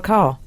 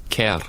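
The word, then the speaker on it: Kerr: Deborah car oh okay I pronounce it car and I King yeah I thought it was you pronounced it car K or maybe not I don't know I think you do pronounce it car thank you I'm in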